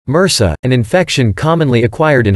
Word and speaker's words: MRSA: A good example is methicillin-resistant Staphylococcus aureus, MRSA, pronounced MRSA, an infection commonly acquired in hospitals.